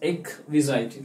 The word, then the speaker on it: exquisite: She thought of an exquisite, ठीक है, जिसे हम कहते हैं बेसिकली, अगर इसका करेक्ट प्रोनाउंसिएशन दैट्स एक्विजाइट, ठीक है, एक्विजाइट।